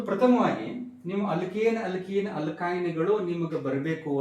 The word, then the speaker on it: alkene: ಅಂತ ಅನ್ಬೇಕು ಎರಡನೇದು ನೋಡ್ರಿ ಅಲ್ಕೀನ್ ಅಂತ ಅಂದಾಗ ಇದರ ಉಚ್ಚಾರ ಯಾವ ರೀತಿ ಇತ್ತು ನೋಡ್ರಿ ಈನ್ ಅಂತ ಬರತೈತಿ ಅಲ್ಕ ಈನ್ ಸೋ ಯಾವಾಗ ಉಚ್ಚಾರ ಹೈಡ್ರೋಕಾರ್ಬನ್